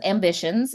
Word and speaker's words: Ambicionz: So my business is Ambitions, and it's spelled AMBICIONZ. So it does have that Latin flair.